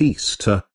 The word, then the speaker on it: Ishtar: semiromis became known as Ishtar which is pronounced Easter and her Moon egg